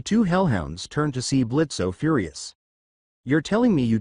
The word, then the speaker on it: Blitzo: Luna Carnival, is it true that you were adopted by said imp Blitzo? O is silent.